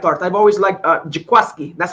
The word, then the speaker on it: Jaquiski: I've always liked Jaquiski. That's how he pronounces it, correct? Jaquiski. Yeah, great name. Jaquiski.